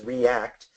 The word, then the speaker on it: react: T at the end one of them is a single base r e a CH and the other one is two morphemes R and act and if you're going to know how to read those words reach versus react you have to know